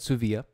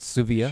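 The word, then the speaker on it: Dsuvia: new opiate it's called Sioux via listen on the D is silent there's a D in the name and the D is silent just so you know so it's called Sioux vo during the bill thank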